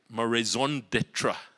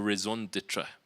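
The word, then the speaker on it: raison d'être: And because today is about my raison d'etre, apparently that's how you pronounce it, your reason for being, your reason to be, your raison d'etre.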